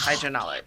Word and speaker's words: HW&W: So it's HW&W. Am I pronouncing it correct? That's correct. HW&W.